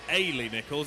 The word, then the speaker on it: Ailey Nichols: The pronunciation of lane 3 is Ailey Nichols.